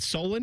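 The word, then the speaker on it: Solon: Is it Solen? Is that how you say it? Correct. Cleveland suburb.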